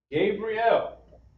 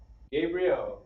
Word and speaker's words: Gabriel: By request, we have Sarah, okay, or pronounced Shara. Shara and Ha, all right? We put that together, Shara. Then lastly, Gabriel.